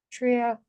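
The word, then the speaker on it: Shreya: Sharia.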